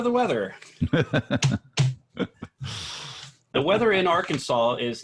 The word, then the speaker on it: Arkansas: to bring everybody can I just apologize for pronouncing it Arkansas in my episode just yeah I'm done I'm gonna try and explain why I'm British you're not gonna live that no anyway its Arkansas I recognize that now go ahead well I'm